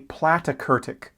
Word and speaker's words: platykurtic: flattened that is a platykurtic curve think of plat rhymes with flat or plait like a plate a low flat curve